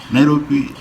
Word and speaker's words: Nairobi: Nairobi is a Maasai word that means a fairy of cold water. A fairy of cold water. And that is how the city found its name, because the Europeans were unable to pronounce Enkare, Nairobi, that they shortened to Nairobi. Enkare, Nairobi was shortened to Nairobi, as you know it today.